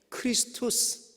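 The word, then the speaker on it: Χριστός: 헬라 가 쓰여져 있냐면 크리스토스 한번 딸깍 크리스 토스 크리스토스 크리스 토스는 그리스도를 의미합니다 근데 저게 x 라는 발음이 아니고 원래는 k 발음이 에요 k 발음이 그 크리스토스 근데 저 앞에 있는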